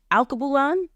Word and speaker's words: Alkebulan: In 2021, he opened, and you might need to help me pronounce it. Alkebulan.